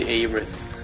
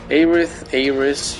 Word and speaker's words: Aerith: And yes, I say Aerith. Aerith, you do you, but that's the pronunciation I heard when I first again with the Kingdom Hearts.